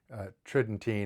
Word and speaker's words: Tridentine: Tridentine is usually how I hear people pronounce it but it means of